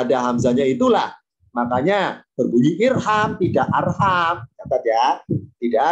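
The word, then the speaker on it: ارحم: Karena huruf ketiga fathah, alifnya tidak ikutan fathah, tapi tetap kasro. Maka bacanya irham.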